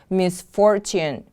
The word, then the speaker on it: misfortune: Misfortune, misfortune. The stress is on the second syllable.